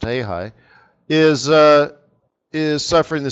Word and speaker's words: real: the ha high right the Brazilian real pronounced he high is uh is suffering